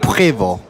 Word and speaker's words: Prevost: That's the real correct way to pronounce it. Prevost.